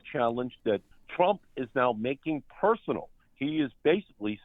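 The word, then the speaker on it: Markey: I always feel I call you Ed Maki, not Ed Marky. Well, finally, someone would be pronouncing my name correctly.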